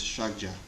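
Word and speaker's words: ཕྱག་རྒྱ: The Tibetan word is shagja. 2 syllables, the first of which, shak, Milarepa says, is a code word for emptiness. The second word, ja, which means in Tibetan extensive or vast, is the syllable which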